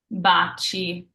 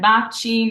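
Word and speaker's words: baci: what's following those so if you see an i or an e after your C it's pronounced cha like cheers in English for example Bachi so here we have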